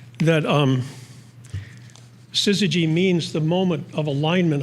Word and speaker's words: syzygy: So I'm just going to tell you this, the name of this poem is Syzygy, and it's a word not that many people know, and it's spelled S-Y-Z-Y-G-Y, just so you know that.